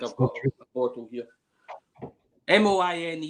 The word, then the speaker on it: Moine: Moine is the spelling. It's pronounced Monia.